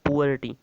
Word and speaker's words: poverty: Topic है वो है पुअर्टी। इसका जो प्रोनाउंसिएशन होता है वो होता है पुअर्टी, पुअर से बना है इसलिए पुअर्टी।